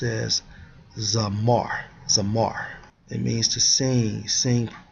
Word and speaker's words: zamar: Strong's H2167 pronounced as Zamar.